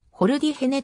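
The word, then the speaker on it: ホルディ・ジェネ: 参戦している名前は日本ではスペイン語の発音から掘るディフェねと呼ばれる場合も多い回 1 ドライバーマルク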